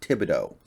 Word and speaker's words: Thibodeau: Apparently, by the way, the pronunciation is Thibodeau.